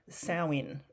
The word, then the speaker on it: Samhain: So its roots trace back to the ancient Celtic festival of Samhain, it's pronounced, which marked the end of the harvest season and the beginning of winter.